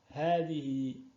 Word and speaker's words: هذه: Comme certains l'ont peut-être remarqué, lors de la prononciation de ces pronoms démonstratifs, nous faisons une prolongation après le ha. Pourquoi? Alors que vous voyez bien, il n'y a pas de alif après le ha, le alif de prolongation. En fait, il est sujet d'un alif de prolongation qui ne s'écrit pas.